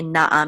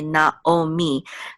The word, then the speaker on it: Naomi: like um Na Naomi they don't say Nai they say Naomi they have preserved in